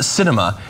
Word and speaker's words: Sinema: The Arizona senator's name is pronounced Sinema, and it is apt because she sweeps and